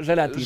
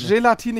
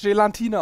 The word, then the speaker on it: Gelatine: Heißt es eigentlich Gelatine oder Gelatine? Gelatine, ich habe es nachgelesen. Bei Wikipedia steht Folgendes. Gelatine, in Klammern fälschlicherweise auch häufig Gelatine ausgesprochen. Also Gelatine.